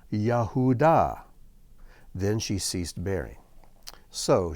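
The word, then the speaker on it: יהודה: you can see here in the name yahudah which is how Judah is pronounced you can see the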